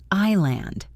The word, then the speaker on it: island: The S was never pronounced. Island, island.